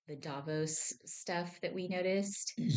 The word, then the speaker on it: Davos: Oh, I'm sorry. Davos. Davos. I think that I think that's the correct pronunciation.